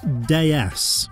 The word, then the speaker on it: DS: The name in French, Citroen's home country, is pronounced DS, which means goddess.